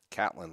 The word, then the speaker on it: Catlin: Catlin, like the cat, like meow.